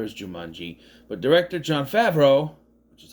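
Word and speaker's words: Favreau: Well, because it's a follow-up in that it is based on a book by the same author as Jumanji, but director John Favro, which is how you say his name, not Favro or Favro or Favro.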